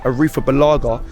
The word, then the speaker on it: Arrizabalaga: Kepa Arrizabalaga, as Ty pronounced it, Arrizabalaga, silent Z, is very good business.